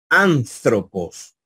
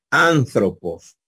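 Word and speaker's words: ἄνθρωπος: sonaría esto en español en español sonaría antropos la la z verdad la z suena como una Z nuestra esta a esta le Dicen Los Americanos La tita verdad antropos antropos así sonaría y así la vamos a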